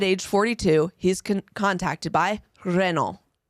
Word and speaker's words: Renault: 42 he's contacted by Renault want to give that a shot Renault that's right Renault if you watch F1 you would know Renault that's how you say it so at the time Renault is a car company